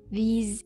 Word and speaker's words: these: Sedangkan yang kedua dibaca these. These. Jadi lebih senyum.